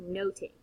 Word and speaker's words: nothing: but also number two in early modern English it could be pronounced notate instead of nothing and so it's much